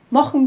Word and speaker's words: mochn: Das machen wir zum Beispiel auch bei den Verben machen, das zu mochen wird, oder lachen, das zu lochen wird.